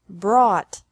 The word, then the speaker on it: brought: is the same bring brought brought buy bought bought catch caught caught fight fought fought seek sought sought teach taught taught think thought thought remember that the g is silent in these verbs verbs with three different